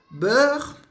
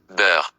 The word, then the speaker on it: beurre: Meio que um som de Então, como é que eu faço som de Eu vou abrir um pouquinho a boca, no final fica um R, um pouco assim, da garganta, mas um pouco puxado, não é muito.